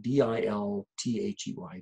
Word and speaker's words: Dilthey: Well, at the end of the 1800s, there's a German philosopher, Wilhelm Dilthey, who comes along. His name is spelled D-I-L-T-H-E-Y, Dilthey.